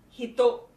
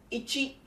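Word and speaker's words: 一: The native Japanese reading, namely the kunyomi for it, is hito. Hito followed by something something. The onyomi, that is the original Chinese pronunciation for it, are ichi and i.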